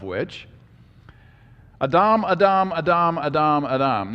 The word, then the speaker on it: Adam: Speaking of which, Adam, Adam, Adam, Adam, Adam. Now, why do I say it that way? Because that's how you pronounce it in Hebrew. It's not Adam, it's Adam.